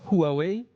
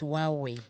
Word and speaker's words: Huawei: this pronunciation as well is it hway hwe no it's supposed to be huaweii supposed to be silent it's hwei today watch now because